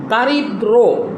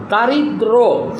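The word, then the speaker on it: দারিদ্র্য: নাই সন্ন্যাসী আবার দেখো দারিদ্র দারিদ্র এখানে দটার সাথে জফলা আছে কিন্তু এখানে এখানে জফলাটা কিন্তু উচ্চারণ হয় নাই। ঠিক দটা দুইবার উচ্চারণ হয়েছে।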